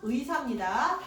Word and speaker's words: 의사: 몇 번이야?번 그 의사는요. 이사로 허용이 없어. 무조건 의사입니다.